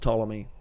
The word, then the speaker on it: Ptolemy: ptolemy with a p it's spelled with a p it's pronounced ptolemy it's spelled with a